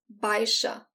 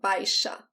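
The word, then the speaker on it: baixa: vieux auvo si vieux baisha it's a casualty by sha so the x in this word is like the s age in english baisha artillery action r again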